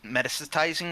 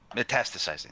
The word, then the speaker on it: metastasizing: And I think we're wasting so much time on foreign issues that domestic issues are metast metasticizing or however you pronounce it to a point metastasizing.